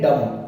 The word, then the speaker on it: dumb: Second है डम्ब, DUMB, तो ये भी डम्ब नहीं होता, डम होता है, डम कहते हैं गूंगे को।